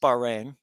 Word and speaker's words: Bahrain: Qatar, they call it, but Qatar, I think, is the proper pronunciation. That might be me. But so this is Qatar. This is Bahrain.